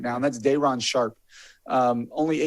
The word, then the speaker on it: Day'Ron Sharpe: And how do you pronounce his name? Day'Ron Sharpe.